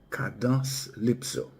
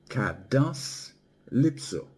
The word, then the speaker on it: Cadence-Lypso: In creole we pronounce it kados lipso.